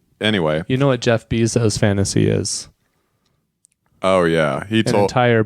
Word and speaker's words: Bezos: uh racist about Jeff Bezos is that he has his last name rhyme with pesos which is the Mexican